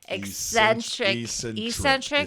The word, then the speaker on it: eccentric: Eccentric. Is that? I'm trying to saying it wrong. I think you're trying to put an X in there.